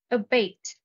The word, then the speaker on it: abate: cheering boy rally abate stress is on the second syllable a bait it means to make